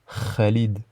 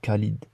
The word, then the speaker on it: Khalid: Donc KH, c'est pour représenter le son, enfin on la prononce kha, kha, comme dans le prénom Khalid, et pas Khalid. C'est Khalid, Khalid. On peut également l'écrire avec le chiffre 5, soit KH, soit 5.